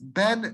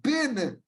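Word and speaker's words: בִּן: supposed to be pronounced, it is not pronounced ben Nun. It's not Hosea ben Nun. It's not Yehoshua ben Nun. It is always Hosea bin Nun. Yehoshua bin Nun. Again, with a chirik, not with a sagol.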